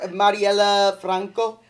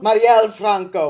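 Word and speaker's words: Marielle Franco: that was beautiful oh oh give it up Marella Franco Mariel Mariel Franco my bad yeah I'm sorry for this pronunciation no you killed it that was great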